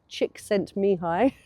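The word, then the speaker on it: Csikszentmihalyi: I know how to pronounce his name because he's Hungarian and I have you know I have a Hungarian connection. So he's called Mihi Chickscent Mihi is his name weirdly.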